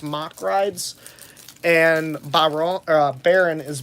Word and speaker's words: Mack Rides: what i s now people say mock rides correctly but for the longest time i always heard mack rides um let's see what